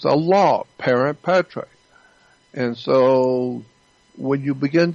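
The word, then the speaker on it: parens patriae: I don't know exactly how to spell it, but it's pronounced parent patriae. It's an actual federal law, parent patriae.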